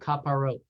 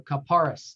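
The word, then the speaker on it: Kapparot: and another one is called Kaparot or Kaparis, depending on how you grew up in pronunciation.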